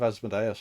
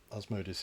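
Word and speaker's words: Asmodeus: we meet up with asmodus or asmodus depending on how you want to pronounce it asmodus is probably correct but I've called him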